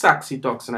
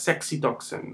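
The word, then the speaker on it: saxitoxin: So so it's pronounced saxytoxin. I remember a colleague talking about it as sexy toxin. No that's not right.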